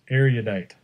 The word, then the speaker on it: erudite: this word it's erudite erudite sounds like a meteorite has nothing to do